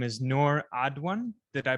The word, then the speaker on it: Noor Adwan: Her name is Noor Adwan. Did I pronounce that right?